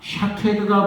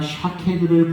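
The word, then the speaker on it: שָׁקֵד: 쇼케드, 샤케드 비슷하죠? 그런데 히브리어로는 똑같은 말이에요. 똑같은 거예요. 근데 이제 어떻게 발음을 하느냐에 따라서 이게 살구나무, 즉 아몬드가 되기도 하고 또 쇼케드라고 발음을 하면은 이것은 지켜서 행한다.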